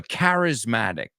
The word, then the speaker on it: charismatic: So a charismatic, eso es una CH que suena como una K.